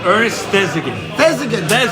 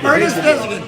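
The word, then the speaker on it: Ernest Thesiger: So Ernest, I've never heard his name actually pronounced that well. Thigson. Ernest Thesigan. Ernest Thesigan.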